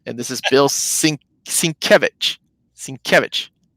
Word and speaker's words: Sienkiewicz: Sienkiewicz, right, Jess?